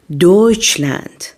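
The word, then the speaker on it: Deutschland: جلوی دهان تلفظ نمیشه و همچنین ترکیب تی اس سی ها صدای چ میده تی اس سی ها صدای چ میده مثل دویچلند مثل دویچلند پس ترکیب تی اس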